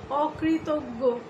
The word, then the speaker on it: অকৃতজ্ঞ: এখানে অটি নেতিবাচক অর্থ প্রকাশ করছে বলে আমাদের অয়ের পরে রিকার থাকা সত্ত্বেও সেই অয়ের উচ্চারণ বিবৃত হবে, অর্থাৎ অয়ের স্বাভাবিক উচ্চারণ এখানে বহাল থাকবে।